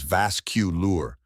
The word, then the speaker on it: vascular: The correct pronunciation is vascular, a three-syllable word with emphasis on the first syllable.